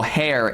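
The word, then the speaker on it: Herr: So for example, hair, H-E-R-R, if you call somebody hair something, Mr. something, it's hair something. You don't pronounce the R.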